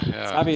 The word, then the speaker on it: SAVVY: I'm not sure whether I say it correctly, SAVI. Or how do you pronounce it? Caspar, SAVI, yeah. SAVI is correct.